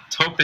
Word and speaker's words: taupe: It's It's like sounds like top. Is it T O P E? That's how taupe is.